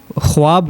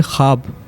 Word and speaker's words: خواب: اس کے علاوہ کچھ آپ کی غلطیاں ہیں، جیسے آپ بار بار خواب کہہ رہے تھے، جبکہ صحیح تلفظ ہے خواب. واؤ اس کے اندر سائلنس ہے، ٹھیک ہے.